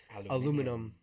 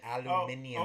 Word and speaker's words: aluminium: There's a 25% tariff on steel imports and a 10% tariff on aluminum imports. Aluminium.